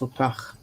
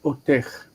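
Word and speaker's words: אוֹתָךְ: and there is no ech otech. It's otach. Sorry. I don't know why. Otach. Why did I do that? A lot of Israelis say otech, and it is nasty. It sounds really bad in the ears, but a lot of people say it, and it's a mistake.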